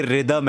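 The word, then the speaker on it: rhythm: तो जरूर पूछा है की जब बोलते रिदम है तो रिदम क्यों लिखने हैं जैसे रितिक रोशन है ना की उसमें हा जो है वो साइलेंट है वैसे ही रम उसमें वो हा जो है वो साइलेंट होता है तो इसलिए वो रिदम हो जाता है मेरे हिसाब से तो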